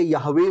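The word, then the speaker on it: Yahweh: अपना नाम बताया तो उसने चार हर्फ में नाम बताया उसने कहा युद्ध है वाव है मेरा नाम है जिसको प्रोनाउंस नहीं किया नॉन प्रोनाउंस बल वर्ड है और जिसमें बाद में हम हमने ए और ई लगा के यवे उसको बना दिया क्लोज उसको कर लिया कि हम बोल सके उस लफ को लेकिन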